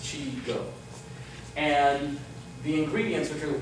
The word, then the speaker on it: Xigo: from a company called Chico xigo is pronounced chigo and the ingredients which